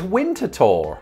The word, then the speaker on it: Winterthur: answer to this but according to someone's blog it is winter tour which was a wild